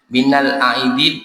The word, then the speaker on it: Minal aidin: aidin wal faizin oke Jangan sampai keliru Minal aidin aid aid itu artinya kembali aidih kembali artinya kembali